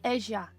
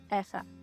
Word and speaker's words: Eja: It's actually pronounced Asia, but as I hike in Spain, I pronounce it in Spanish, EA.